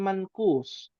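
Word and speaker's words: منقوص: Jangan sampai dibacanya ada gunnah ya. Ada gunnah, ya ada ihfa, ya ihfa hakiki. Alismul mankus, ya. Salah ya. Ya, salah besar. Mankus, ya.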